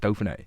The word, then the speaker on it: Dauphiné: And did you won the stage at is it the Dauphiné, yeah. Is it how you pronounce it, Dauphiné?